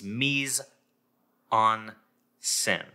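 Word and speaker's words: mise en scène: to pronounce it it's meson sin so you can practice being a French person if you don't have a French accent and say Meisel sin I don't know if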